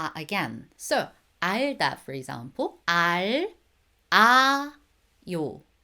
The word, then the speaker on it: 알아요: Imagine this, if there is a circle right after the bottom consonant, the bottom consonant carries on to the next one. So you guys need to pronounce it smoothly, right? I did mention it before. 알다. If you say it separately, each syllables, 알, 아, 요. However, when you say it together, that becomes 알아. 알아요, 알아요.